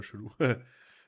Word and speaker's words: Cëloo: Alors euh ça se prononce du coup je crois que c'est chelou. C'est marrant un peu chelou parce que le e il y a un trem donc normalement on le prononce en entier.